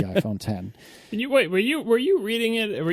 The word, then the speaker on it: iPhone X: we are immediately told, no, it is not the iPhone X. It is the iPhone 10.